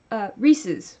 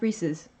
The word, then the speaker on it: Reese's: and profound oh no Risa's when people mispronounce reese's yes don't know one